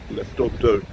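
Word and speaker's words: Lefortovo: I think it's pronounced Leftovdo, but I often get that wrong.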